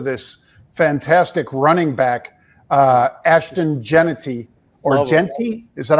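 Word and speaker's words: Jeanty: off as to this fantastic running back, Ashton Genety, or Genty. Is that how you pronounce it, Pete? Genty, yep.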